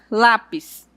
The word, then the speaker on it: lápis: A palavra lápis, ela é acentuada no lá, acompanhada da sílaba tônica e ao mesmo tempo ela é acentuada, né, com o acento a com o acento aí para você para identificar que a sílaba mais forte é no lá.